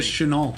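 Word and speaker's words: Shenault: Help me with the pronunciation here. Chenault from Colorado. Yeah, Laviska Chenault.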